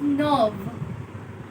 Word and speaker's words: neuf: That is nerve. It's not neuf or neef. It's nerve.